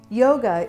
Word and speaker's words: yoga: it again with yoga yoga is a rose boat word but listen to the second syllable Yoga Yoga so yoga